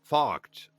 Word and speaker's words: Focht: So Focht rhymes with walked, but with a f.